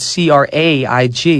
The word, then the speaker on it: Craig: I said, well, the word Craig or the name Craig is spelled C-R-A-I-G.